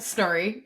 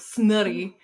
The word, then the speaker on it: Snorri: Yeah, it's pronounced like it's spelled Snorri. Yeah, but in the book she says it with like she rolls her R's real hard, like snurry.